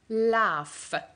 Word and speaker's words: laugh: made us laugh laugh the GH letters with Ewan and a maid the first sound which is laugh so the word will be laugh read it together laugh